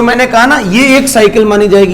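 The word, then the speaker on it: ν: इसको बेटा बोलते हैं न्यू। प्रोनाउंसिएशन लिख रहा हूं साथ साथ। न्यू, न्यू होता है, एक होता है म्यू, ये होता है म्यू है बेटा? नहीं नहीं, कहाँ होता है एटॉमिक मास? म्यू वो नहीं रे, अरे वो नहीं, वो नहीं। AMU और न्यू और म्यू में बहुत अंतर है।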